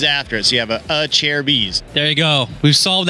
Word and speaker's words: Acerbis: chair of ease now it is a chair B's correct yes you know a lot of people mispronounce it but it is a chair B's a good way to